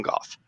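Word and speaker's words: Gough: lot of people it's it rhymes with cough because she's a scottish descent so it's it's susan goff no that's just my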